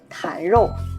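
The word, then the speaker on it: 坛肉: 那在东北啊，我们叫坛肉呢，不会发音坛肉，因为东北话呢会带一点儿字音。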